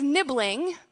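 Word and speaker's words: nibling: and this word is nibbling rhymes with sibling it's not in all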